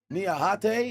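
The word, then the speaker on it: Niakhaté: That's um Niahate. Niahate is how it be pronounced.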